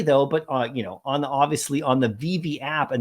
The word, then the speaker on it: VeVe: Veve, not Veve. So you can see that they capitalize that second letter.